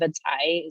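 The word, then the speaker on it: vadzaih: And so, certainly when you go to a community like Old Crow, the Vantak Gwich'in, and Vadzai is how you say caribou in Gwich'in, that you see that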